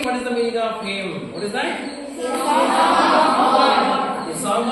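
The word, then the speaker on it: hymn: good m n h y m n Now Pronounce the word him what is that him what does it mean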